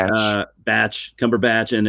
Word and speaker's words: Cumberbatch: It's got um Benedict Cumberb back, however you say his name. Batch. Uh Batch. Cumberbatch.